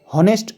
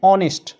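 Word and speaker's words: honest: অনেস্ট ম্যান অনেস্ট ম্যান এইচ ও এন ই এস টি এইচ দিয়ে শুরু হয়েছে কিন্তু হনেস্ট উচ্চারণ না হয়ে এখানে হয়েছে অনেস্ট ঠিক আছে এইচ এর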